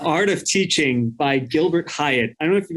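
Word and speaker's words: Highet: how do you say his last name gilbert hyatt h-i-g-h-e-t to show too that like education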